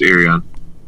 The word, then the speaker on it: Irion: brother of naomi uh irian is it irian that's how you say it right yeah it's irion yeah so how's the